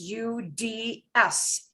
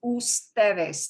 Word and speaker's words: ustedes: And ustedes will be abbreviated as UDS, period. But we don't pronounce it as uds. We pronounce it as ustedes, the whole word.